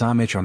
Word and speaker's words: Amara: "It's Amitra, ma'am." Like as in father, ma as in mama, and Ra like the Egyptian sun god Ra.